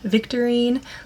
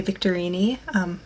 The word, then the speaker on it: Victorine: So my very top suggestions were Isolde, Blythe, Fiorella, Victorine. Looking at some origins, some people would say Victorini. For me, I love the Victorine pronunciation, and then Ilona.